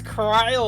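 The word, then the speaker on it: Krile: her name is a Krill it's spelled k r i l e so I call her Krill her name is kry you Philistine yeah but she's she's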